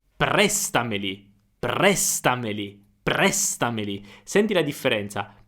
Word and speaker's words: prestameli: Prestameli. Prestameli. Prestameli. Senti la differenza. Prestameli su me. Ma è sbagliato.